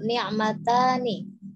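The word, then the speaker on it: نعمتان: Ni'matani. Ni'matani di situ kalau pakai domir huma ya, dua. Jadi dua kenikmatan harus dipanjangkan. Itu tanda duanya itu, tanda musananya itu alif dan nun.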